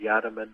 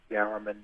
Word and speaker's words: Yarraman: Yarraman, I've heard up on Palm Island, Yarraman, Yarraman, the same word, just a different emphasis or stress on the different syllables, yeah.